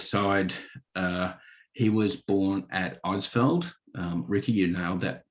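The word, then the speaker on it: Eidsvold: And on my grandfather's side, he was born at Eidsveld. Ricky, you nailed that pronunciation.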